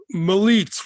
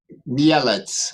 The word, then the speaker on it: Mielec: My fast question is this: is Militz, which I'm not pronouncing properly, M-I-L-E-C-Z? Mielec.